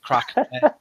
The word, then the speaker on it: Craic: I'm Plastic Crack. Crack like Irish crack, CRAIC.